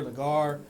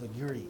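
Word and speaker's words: Legare: Legree? Is that how you pronounce it? Because I was like Lagar. They're like, no, chef, it's Legree.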